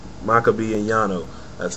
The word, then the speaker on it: Makabe: Makabe and Yano.